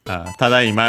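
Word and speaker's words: ただいま: Becomes a compound is tadaima. And so that's why it's accented tadaima on the da.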